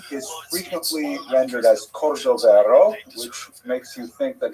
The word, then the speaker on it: Cordovero: his Matseva, his gravestone, it's Cordoero. It's a Portuguese spelling, but it's kind of a strange thing to pronounce in Hebrew, so it was sort of mangled into Cordovero, and that has become the standard, even though it is probably not correct.